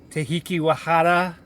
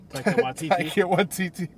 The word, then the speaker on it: Taika Waititi: You have Tahiki Wahata, Taika Waititi.